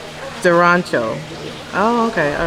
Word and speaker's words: Arancio: It's a ch. So say it again. Durancho.